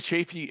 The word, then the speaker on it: Chaffee: you got the A right. The only Chafee, and while there's like my sons and I, and that's it in the whole country that pronounce it that way.